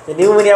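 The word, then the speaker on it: pneumonia: ছোটবেলা থেকে, হ্যাঁ হ্যাঁ নিউমোনিয়া বানান এই পি উচ্চারণ করা হয় না, এইটুকু উচ্চারণ করা হইতেছে।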